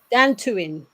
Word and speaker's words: Dantooine: And tell me how you pronounce. Is it Dantooine? Dantooine.